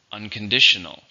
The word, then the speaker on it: unconditional: 5 syllables, stress on the second. Unconditional.